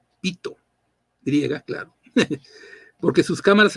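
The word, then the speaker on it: Pytho: El nombre original del oráculo era Pito, se escribe con TH, con Y, Pito, griega, claro, porque sus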